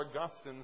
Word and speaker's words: Augustine: by a man named Augustine or Augustine some like to pronounce it and we're going to